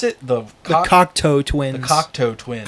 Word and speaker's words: Cocteau Twins: How do you pronounce it? The Cocteau Twins. The Cocteau Twins. Cockatoo Twins?